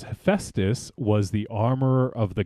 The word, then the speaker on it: Hephaestus: this says hephaestus hephaestus hephaestus there you go hephaestus ravenchado that's stupid that no that's that's a